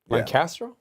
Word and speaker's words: Lancaster: Lancaster. That's actually how you pronounce it.